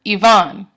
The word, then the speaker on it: Ivan: And a lot of names are actually iambs, like Jose or Tien or Ivan. The stress is on the second syllable.